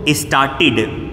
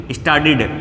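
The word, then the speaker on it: started: तो टी के साथ ईडी को मिलाते हैं तो ये ड में चेंज हो जाता है, डिड हो जाता है। ये कौन सा एक्सेंट है?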